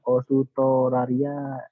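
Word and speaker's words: オーストラリア: Osutora dalam bahasa Jepang itu jadi Osutoralia. Osutoralia. Karena dalam bahasa Jepang nggak ada L, pakainya R ya.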